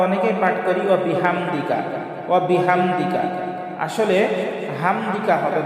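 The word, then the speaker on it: وَبِحَمْدِكَ: আমরা অনেকেই পাঠ করি ওয়া বিহামদিকা ওয়া বিহামদিকা, আসলে হামদিকা হবে না, হাম। এখানেও বড় হা, হলকের মধ্যখান থেকে একটু চাপ দিয়ে আমরা উচ্চারণ করব ওয়া বিহামদিকা ওয়া বিহামদিকা।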